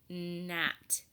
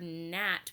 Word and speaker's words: gnat: In words that begin with GN, we don't hear the G.